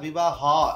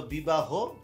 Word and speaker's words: বিবাহ: এখন হ রয়েছে, হয়ের মধ্যে একটা বিবাহ হ এরকম কিন্তু বলি না। হ্যাঁ, আজকে আমি বিবাহ হ করতে গিয়েছি, হ্যাঁ, তাই আমার দেহ এরকম না, বলতে দেহ। হ্যাঁ, তো বিবাহ, কলহ, দেহ, ওই যে অটা ওকার হয়ে গেল, এই আর কি।